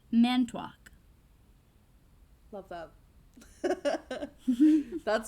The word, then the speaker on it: Manitowoc: So when Deke asks Coulson where he's from, Coulson replies, Manitowoc, Wisconsin, pronouncing it Manitowoc, or Manitowoc, or however the fuck. Someone born there, or native to most of Wisconsin, would pronounce it Manitowoc.